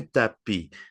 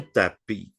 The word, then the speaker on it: tapis: Non, en français, on dit un tapis. La S finale ne se prononce, OK? Un tapis.